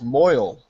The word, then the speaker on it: mohel: Mohel. Moheaven. I was pronounced that as moil. Am I wrong? That's the Yiddish. That's the Yiddish pronunciation of it.